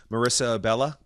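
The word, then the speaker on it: Marisa Abela: Marissa Abella?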